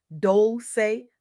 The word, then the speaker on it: Dolce: I'm your host Dolce, pronounced dol-say, like sweet softness whispered in French.